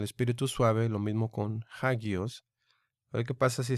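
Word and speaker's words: ἅγιος: Pero esta alfa tercera se pronuncia ja, ja, hagios, hagios.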